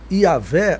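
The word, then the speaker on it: Yahweh: comentei o tetr que normalmente é transliterado Y hw pronuncia-se yahvé ou yahvé nas escritas e pode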